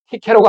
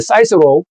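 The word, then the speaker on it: Cicero: 웅변가였던 키케로가 하는 말입니다. 영어 발음은 사이스로, 우리 보통 키케로라고 하죠.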